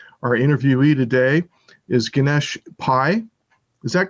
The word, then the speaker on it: Pai: e-week e-speak segment our interviewee today is ganesh pai is that correct ganesh did i get your